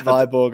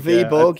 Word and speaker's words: Viborg: So I'm already pronouncing it wrong. That's item one to note. It's not Viborg after all. Right, Viborg, go on. Viborg, yeah, that's lesson number one.